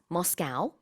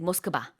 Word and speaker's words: Moscow: Ray says Moscow, I say Moscow, and in Korea we say Moskva.